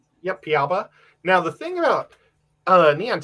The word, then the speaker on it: Piaba: Yep, Piaba.